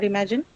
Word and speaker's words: imagine: Imagine is a verb to imagine something, right? Um, okay. Uh, word verbs usually marked on uh which syllable? Second syllable mostly. So, it has to be Yeah. M, right? Imagine second one.